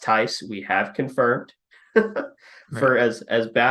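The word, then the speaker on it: Theis: looked at the roster it is spelled t-h-e-i-s it is pronounced tice we have confirmed for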